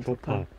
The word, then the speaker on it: 조팝: 팝! 발음 주의하세요. 발음. 아까 큰 거는 이팝이고 이거는 조팝. 아, 너무 예쁘다.